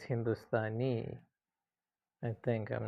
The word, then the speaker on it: Hindustani: Sorry, I pronounced it wrong. It's not sata star. It's a very common sound. Hindustani Hindustani which means Indian.